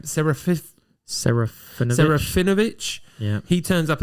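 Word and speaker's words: Serafinowicz: Saraphinovich.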